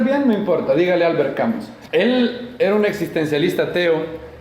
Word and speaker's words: Camus: Entonces esa U francesa se dice con la boca de la U, pero haciendo una I. Entonces él se llama Albert Camus.